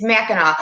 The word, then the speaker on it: Mackinac: Brandy's been to Mackinac. It's Mackinac.